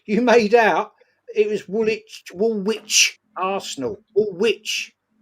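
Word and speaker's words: Woolwich: That you wanted me to meet you at Wool Witch. Wool Witch to go toe-to-toe and you couldn't even spell it. And you told me you lived in wool witch. It's woolitch.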